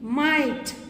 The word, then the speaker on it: might: See here also GH is silent. Okay. Light. Silent. Might.